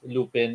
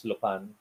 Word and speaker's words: Lupin: been people who have corrected me just as lupin is lupan yeah um so i'll just play this to